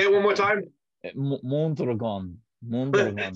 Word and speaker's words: Mondragon: It's called Mondragon. And yeah, I've heard Dick Wolf talk about it. So yeah, Mondragon. I try to have a Spanish accent. Say it one more time. Mondragon.